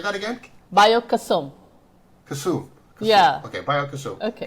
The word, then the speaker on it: Kesum: So, first of all, am I pronouncing that right? Is that Kesum? It's Yeah, we call it Kesum. Say that again? Kesum.